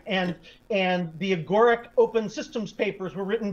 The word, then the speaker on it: Agoric: So now you're the CEO of, I hope I pronounce it correctly, Agoric, how do you pronounce Agoric. It? Yeah. Agoric.